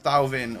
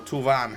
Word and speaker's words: Thauvin: And then the 86 rated, just regular Matuidi to get a French trio link going on with Tolisso and Thauvin, or Touvan, however you say his name, later on.